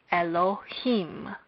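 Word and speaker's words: אלהים: First, there is a stress on the last syllable of Elohim as it says on the board. Hence, when we pronounce this, we would say Elohim.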